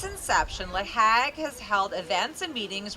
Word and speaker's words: LAHAG: Is that how we pronounce it? Absolutely. LAHAG, great.